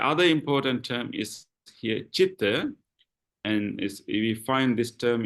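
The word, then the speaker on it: citta: mind in Pali is chitta. Although it is letter C, it doesn't pronounce as K, like a cake. It's pronounced as ch, as in chair.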